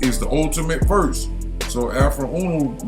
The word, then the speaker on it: Afroooonoo: Pronounced Afruun.